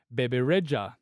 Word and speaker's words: Bebe Rexha: Lipa, Bebe Rexha, but I go out of my way to make sure I pronounce it the Albanian way. So I hope you don't mind that. So everyone in Melbourne hears Bebe Rexha.